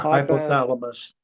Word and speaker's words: hypothalamus: And I hadn't heard about the hypothalamus gland. How do you pronounce that, Marty? Yeah, hypothalamus.